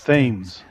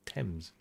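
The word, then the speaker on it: Thames: Say tames again. Going to get them you told. Yeah. Tames probably, but tames. Yeah. Tames. Themes.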